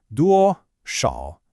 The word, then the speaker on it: 多少: A really common pronunciation mistake here for English speakers is that sh sound in shǎo. It's not a hard shu, like in shoe, it's a bit softer. Let's try it again. 多少.